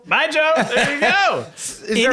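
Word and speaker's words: baijiu: thousand, a bottle whatever B AI J IU but pronounce it like buy goodbye Joe bye Joe bye Joe there you go is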